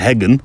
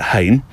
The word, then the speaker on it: Hegn: as in Henry's something, Hain, Hegn, which I probably would have said Heggen, wouldn't I? But you pronounce it Hain, which means Henry's Fences in Danish.